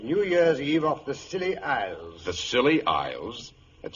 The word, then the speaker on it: Scilly: and I spent New Year's Eve off the silly Isles the silly Isles it sounds appropriate doctor